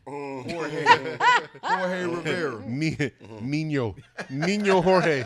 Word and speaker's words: Jorge: That nigga name was Jorge. Jorge Rivera. Nino Jorge. The J is silent. It's silent, bro.